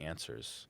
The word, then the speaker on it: ANSWRS: Answers. Answers. And it's spelled without an E. So it's ANSWRS.